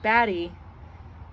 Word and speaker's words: Batty: I think I said baby but I think batty is the way it sounds to rhyme with the other names Pattie Mattie daddy that makes sense readers all